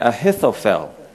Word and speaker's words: Ahithophel: Could you pronounce it with me? Ahithophel.